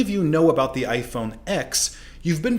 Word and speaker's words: iPhone X: it is an x apple intended it to be pronounced as the roman numeral 10 rather than the letter of the alphabet and this confusion is